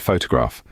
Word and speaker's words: photograph: your pronunciation for instance in the word photograph the first syllable foe is stressed denoted as futra F